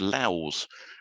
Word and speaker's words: louse: Well, there's an animal called louse, but as far as I know, the verb is pronounced louse with a sort of hard S or Z sound in it.